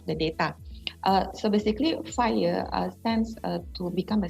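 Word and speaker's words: FHIR: for the data interoperability we call it fire so fire stand for uh uh what you call we spell it fire but actually it is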